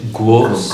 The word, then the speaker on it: groß: So the pronunciation is groß. Yeah. Groß. So it's almost like a silent R.